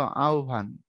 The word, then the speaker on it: আহ্বান: দেখায় দেই যেমন দেখো আমরা লেখার সময় লিখি এরকম আহ্বান কিন্তু উচ্চারণটা এমন না উচ্চারণ হলো আহ্বান বিটিভির আটটার খবর শুনবা